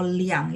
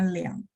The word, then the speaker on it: 俩: Kalau liang itu 2. Ya, angka 2. Memang ada juga yang bacanya liang, tapi dia baca yang benarnya adalah lia.